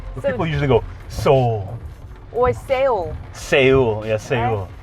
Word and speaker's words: Seoul: You can pronounce these 5 Korean words. What do you have? Seoul. 다시? Seoul.